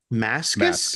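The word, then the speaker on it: Mascis: we talked about yeah I believe it's a hard C Mascus Mascus I believe oh okay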